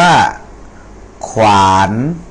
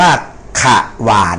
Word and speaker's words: ขวาน: 2 ตัว อย่าง เช่น คำ ว่า ขวาน ขวาน อัน นี้ อ่าน ว่า ขวาน อ่า ขวาน นะ นี่ อ่าน ว่า ขวาน ไม่ ได้ อ่าน ว่า ขะ หวาน นะ ครับ อัน นี้ อ่าน 2 ตัว Double consonant นะ ครับ